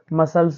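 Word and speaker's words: muscles: बच्चों तो यहां पर एस के बाद क्या आया है सी आया है तो इसका उच्चारण नहीं करेंगे तो एस ई एन ई क्या हो जाएगा बच्चों सीन हो जाएगा तो बच्चों अब हम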